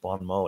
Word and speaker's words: bon mot: in French you meant you have to say Bon Mo in French all right um so